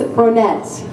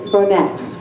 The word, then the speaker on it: Bronette: Her name is Bronette. Many of you might think that, oh, you're pronouncing that wrong, as I often do many words, but it's not Bronet, it's Bronette.